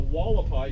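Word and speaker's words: Hualapai: Tribes along there going from north to south were the Havasupai in Grand Canyon, the Wallapai, even though that's an H, it's spelled Wallapai in the Grand Canyon, and then we have the Paiute, Mojave, Chemehuevi, Quechan, and the Kokopah.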